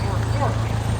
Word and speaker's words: Norfolk: Norfolk is affectionately, as they pronounce it, Norfolk, is affectionately referred to